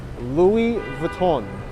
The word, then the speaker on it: Louis Vuitton: uh louis vuitton but the correct way to say it is louis vuitton we got chess